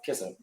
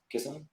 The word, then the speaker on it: Kissimmee: Then how you pronounce it? It's Kissimmee. Kissimmee.